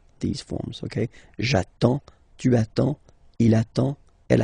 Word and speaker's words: attends: So the first form will be j'attends, j'attends. Okay, you get D and S, well basically you don't pronounce them, okay, and then you get only the sound attends, nasal here, en, j'attends, okay.